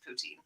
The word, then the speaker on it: poutine: that right am I pronouncing it right people pronounce it differently we're from western Canada so it's just poutine okay and it's Friday it's fries it's fries